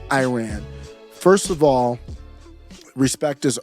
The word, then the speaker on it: Iran: you make a statement this reporter says you're not pronouncing the name of the country right it's Iran not Iran first of all respect